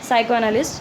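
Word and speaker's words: psychoanalyst: आप इस चीज़ को याद रखना, इसकी प्रोनाउंसिएशन मेरे से भी गलत होती है जैसे कि अभी हुई थी। ठीक है, साइको एनालिस्ट, साइको एनालिस्ट का मतलब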